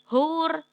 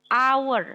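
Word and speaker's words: hour: kalo yang satu lagi ada yang huruf depannya H Tapi bacanya Marine hower Kalau enggak salah tulisannya hur kamu cek lagi catatanmu Hai hower Tapi bacanya bukan hure tapi our Hai jadikan cara bacanya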